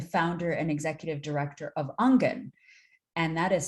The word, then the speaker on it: Aangen: Hey everybody, my name's Gerbine and I am the founder and executive director of Angen, and that is spelled Aangen.